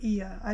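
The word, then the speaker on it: Oia: of IIA it's o i a but it's pronounced E I did learn that one thing how to pronounce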